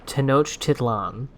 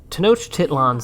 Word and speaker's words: Tenochtitlan: tohokan reminded me of what i am going to pronounce as uh tenochtitlan because that is the most recent pronunciation of the word t-e-n-o-c-h-t-i-t-l-a-n which i believe